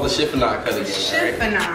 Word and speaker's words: chiffonade: Chiffonade. All right? Am I saying it right? Yes, you're right. Chiffonade.